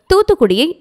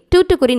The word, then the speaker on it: தூத்துக்குடி: உதாரணமாக, தூத்துக்குடியை டூட்டுக்குரின் என்று அழைப்பார்கள். இனி தூத்துக்குடி என்று தான் அழைக்க வேண்டும்.